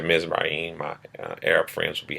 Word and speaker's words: Mizraim: He had four sons: Mizraim or Mizram. Um, Sounds closer to the proper pronunciation when you say Mizraim.